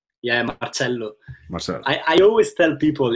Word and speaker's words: Marcello: So Marcello, it is pronounced Marcello, right? Yeah, Marcello.